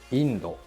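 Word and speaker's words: インド: is within the way it is number one indo india the catacomb pronunciation of india is indo it is not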